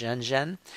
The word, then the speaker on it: Renren: You've got Caixin, which is the second one down, and then you have Zhenzhen, or it's spelled Renren, but it would be pronounced Zhenzhen.